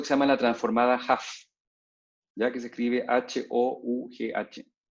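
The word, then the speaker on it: Hough: capítulos, un método que se llama la transformada Huff, ya que se escribe H-O-U-G-H, que detecta líneas rectas.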